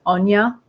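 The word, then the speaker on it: Áine: I know it's spelled as Aini, but usually her name is like Anya.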